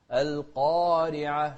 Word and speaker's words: القارعة: سورة القارعة. القارعة، الراء هني مكسورة فإذا هي مرققة، فنقول القارعة ما القارعة. القارعة، شوف القاف بعدها ألف فهي في أعلى مراتب تفخيمها.